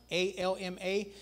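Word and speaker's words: עלמא: In the Aramaic, it actually means, and it looks like it's spelled like alma, A-L-M-A, but it's got a little apostrophe right before the A, so it's kind of like a little hesitation to it. It's like alma, like that, alma, right?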